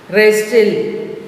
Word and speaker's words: wrestle: Wrestle, W is silent.